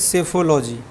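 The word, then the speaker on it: psephology: क्या हो जाएगा डी इसको क्या पढ़ते हैं सेफोलॉजी पी साइलेंट होता है जैसे साइकोलॉजी में पी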